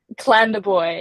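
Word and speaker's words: Clandeboye: booy is is that how you pronounce it cland boy yeah pronounced Yeah cland Boy Manitoba uh like you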